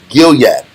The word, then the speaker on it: Gilead: Gilad is Gilead. Gilad is Gilead. This is how you pronounce it differently?